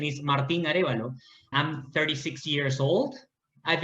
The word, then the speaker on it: Martin Arevalo: aravalo from peru okay so my name is martin arevalo if you want the spanish pronunciation is martin arevalo i'm 36 years old